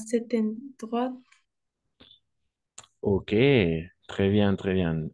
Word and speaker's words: cet endroit: En effet, c'est cet endroit masculin singulier, allemand qui commence par une voyelle ou un H muet, donc avec un seul T. Cet endroit. Cet endroit, en effet. Très bien, on va faire la liaison exacte.